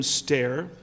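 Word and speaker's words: Stoehr: Uh his name is William Stair. s t o e hr, but it's pronounced stair.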